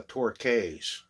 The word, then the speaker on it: Torques: sticky by the torx t-o-r-q-e-s is how people would be pronouncing it but in the old days it was called they were called the torquays even though it spelled like torques they call themselves the torquays let's have a look